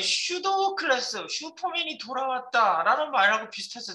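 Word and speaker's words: pseudo: 그래서 피는 묵음이고 그냥 슈도 이렇게 불러요.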